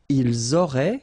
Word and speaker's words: ils auraient: Ils auraient, so liaison here. Elles auraient. And then look, if you've got A-I-E-N-T, then phonetically it goes like aurait.